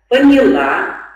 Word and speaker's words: поняла: И я могу понять, понял, поняла, ждать, ждал, ждала, ждали. И, соответственно, прочитай предложение, покажи. С ударением на каком слоге надо произносить?